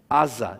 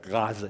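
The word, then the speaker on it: עזה: In fact, the name we've been seeing in the news over and over, Gaza, in Hebrew is spelled with the ayin at the beginning. Aza in Israel, they say. Or if you're Arabic, you might say Gaza.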